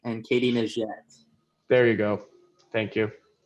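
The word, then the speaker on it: Katie Nageotte: Can you pronounce those ones for me, Chris? You nailed them earlier. So it's Renault Lavilani and Katie Najette.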